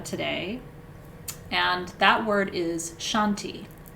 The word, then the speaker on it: shanti: one word mantra today and that word is shanti it's spelled s-h-a-n-t-i shanti and shanti means peace and since this